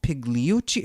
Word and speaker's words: Pigliucci: by my guest Massimo pigliuchi am I saying your last name right the g is silent so it's build you